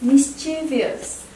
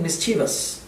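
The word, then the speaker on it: mischievous: next word please the next one is mischievious can show this word mischievious slightly correcting miss cheevus next one is dropped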